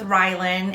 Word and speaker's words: Rylan: Is it Ryland or Rylan? It ends with an N. Almost like Ryan, but Rylan with an L.